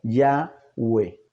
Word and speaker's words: Yahweh: dando como resultado que la pronunciación correcta del nombre sería yagüe estamos mirando este nombre